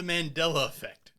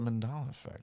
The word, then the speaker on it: Mandela effect: a whole episode of the mandela really because it's the mandela effect or or was it wait or was it the mandala effect oh my god no it's the mandela effect it was i mispronounced it but it's fine although